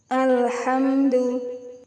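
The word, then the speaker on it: الحمد: lam diikuti ha kemudian hamdu mim sukun bertemu dengan huruf Dal cara membacanya juga harus terang dan jelas tidak boleh dengung ya tidak boleh HAM Enggak boleh gitu tapi hamdu alhamdu alhamdulillahiabbil alamin hamdu namanya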